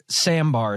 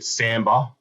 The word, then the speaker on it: sambar: you'd say Sader um as in the style of dance but there's actually an r at the end so it's s a